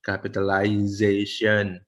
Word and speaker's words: capitalization: Kan capitalize itu kan A-nya kayak hilang yang garisnya, garis tengahnya itu hilang. Capitalization. S-nya itu kayak shen gitu ya.